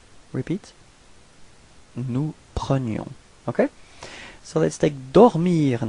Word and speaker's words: prenions: So you can see that the only way to make the difference between présent and imparfait, it's this I, so the y sound.